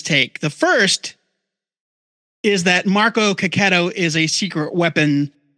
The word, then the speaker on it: Marco: got a hot take here here's his take Marco ketto which we just found out that's how he pronounces his name is the secret weapon on